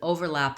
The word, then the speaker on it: overlap: the two groups of employees um there's an overlap of time in the schedule so you can